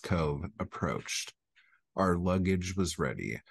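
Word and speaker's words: Cobh: and headed for sure Cobb or Cove pronounced Cove approached our luggage was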